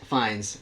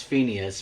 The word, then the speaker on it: Fiennes: Ralph Fiennes? I can't pronounce that. Fiennes. Ralph Fiennes. Okay. for a second, I thought that's Phineas, but yeah.